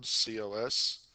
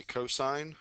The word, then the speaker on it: cosine: Okay, on the calculator, it's spelled COS. I want you to say cosine, not cos.